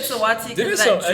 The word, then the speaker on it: Saweetie: It's Sweetie, but like I said Saweetie because there was like a long-standing joke between Tracy.